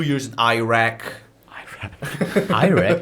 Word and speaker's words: Iraq: Iraq, not Iraq, man. Yeah, I know. Americans say that way.